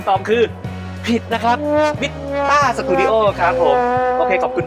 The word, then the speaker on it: MITTA: มั้ย ฮ มิตต สตูดิโอ มิตตะ เป็น คำ ตอบ ที่ ผิด นะ ครับ อ่าน ว่า มิต้า สตูดิโอ ครับ ผม Studio ครับ ผม